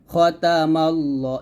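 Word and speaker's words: خَتَمَ ٱللَّهُ: তা জবর তা খতা এখানে খা তাতা বলবেন না আমরা এখানে খর উচ্চারণটা খার মত করে ফেলি এটা করা যাবে না খতে হবে খতা মিমকে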